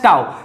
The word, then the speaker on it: tau: This pronounced as tau.